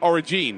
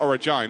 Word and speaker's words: Origine: really make a mistake are been calling them origene of course it's origine isn't it I'm a such a